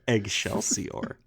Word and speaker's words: Eggshellsior: way down let you egg shell see or yeah are you hey what about eggs eggs shut up no you're saying it wrong its eggshell see or what about shut the